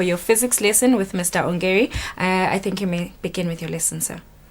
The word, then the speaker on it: Ongeri: Ongeri.